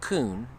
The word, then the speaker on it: Koen: and my mother's co-inside koen not a not jewish it's actually pronounced kun it's a i believe a dutch name yeah or danish somewhere